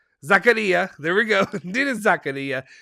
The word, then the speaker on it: Zakaria: the wait wait i'm gonna say it right zakaria there we go nina zakaria and dusan vladovic